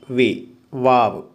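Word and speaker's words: و: റോ ഇങ്ങനെ എഴുതുന്നു, അതിൻ്റെ മുകളിൽ ഇങ്ങനെ സി, വാവ്. ഡബ്ല്യു എ വി, വാവ്, വാവ് എന്നാണ് ഈ അക്ഷരത്തിൻ്റെ പേര്, വാവ്.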